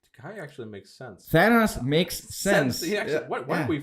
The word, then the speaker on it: Thanos: Is that how you pronounce his name? Thanos? Yeah, Thanos.